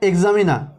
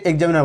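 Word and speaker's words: examiner: ওয়ার্ডটি আছে এক্সামিনা একচুয়ালি আর গুলো কিন্তু সব সাইলেন্ট থাকবে এই যে এখানে আর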